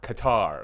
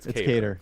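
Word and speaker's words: Kattar: asking in the chat is it pronounced cater or qatar or like the it's cater yeah it is cater okay uh on that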